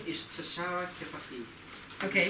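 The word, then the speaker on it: Tuschara: Tashara. Can everybody say Tashara? Tashara. How hard is that? How do you spell it?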